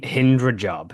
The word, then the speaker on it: Hind Rajab: But let's talk about this film because you're telling, it's the one about Hind Rajib, right? Is that how you say her name? Hind Rajab, yes.